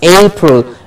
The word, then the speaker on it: April: April is a two syllabic word with A getting the stress.